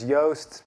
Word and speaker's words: Joost: All right, so my name is Joost, pronounced like toast.